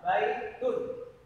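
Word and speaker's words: بَيْتٌ: Baitun biasanya akhir katanya pengucapannya ada n-nya kalau dalam bahasa Indonesia.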